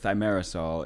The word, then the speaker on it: thimerosal: thimerosal, or, you know, it's got two different accepted pronunciations, but thimerosal is the primary ingredient.